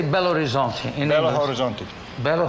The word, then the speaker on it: Belo Horizonte: But not this trip, How do you say Belo Horizonte in Belo English?